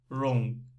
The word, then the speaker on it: wrong: And w, we don't say, we say wrong, wrong, wrong.